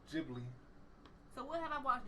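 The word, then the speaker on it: Ghibli: You have, but you just don't remember them cuz it's not Gibli or Jibli. How you say it? Jibli or Giblly? I think it's Jibli.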